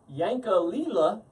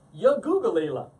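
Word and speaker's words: Yankalilla: And despite the fact that the label looks like it says Yankalila, I am told it is pronounced Yagoogalila. Hey, whatever, you Australian guys are crazy, wacky guys.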